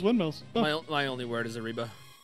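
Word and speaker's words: arriba: my only word is ariba a reba please there's two r's say it right okay well i can't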